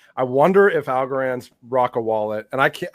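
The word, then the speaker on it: Rocca: I'm like I wonder if Algarand's Rocka wallet and I can't I don't know if it's Rocka or ROA. I always mispronounce Rocka. Yeah, Rocka. Rocka is Italian for fortress.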